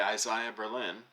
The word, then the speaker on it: Isaiah Berlin: not so this says freedom and betrayal by Isaiah Berlin that is how you pronounce his name by the way and then